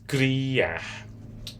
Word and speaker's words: criar: Criar. C-R-I-A-R. Criar. Return in Portuguese. Retornar. Retornar. This is how you spell it.